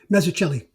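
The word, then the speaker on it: Mazzucchelli: Um, but going back and and rereading this and looking at um Mazicello, I'm sorry, how do you pronounce it, Joe? Meelli.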